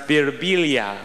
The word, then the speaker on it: Birbiglia: me they'll be like in italy it's pronounced beerubilia i'm like in america